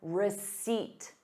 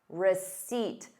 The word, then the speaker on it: receipt: Please keep your receipt. Receipt. There is no P in the word.